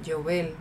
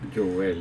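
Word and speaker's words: יובל: la palabra jubileo en en hebreo es la palabra Ylovel, perdón, la pronunciación Yovel, así mismo y eso es en realidad significa antílope.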